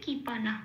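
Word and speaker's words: কৃপণঃ: যেহেতু এটা শব্দের মাঝখানে বা প্রথম শব্দ শেষে আছে বিসর্গটা, সেই জন্য এর উচ্চারণ হবে অর্ধ হ।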